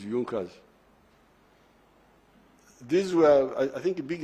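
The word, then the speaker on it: Junker: don't know this European they write junas but they say yunas that the pronunciation is yunas these were I think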